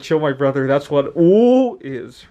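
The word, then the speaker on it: 五: minutes and in chinese the number five is pronounced ooh and i will put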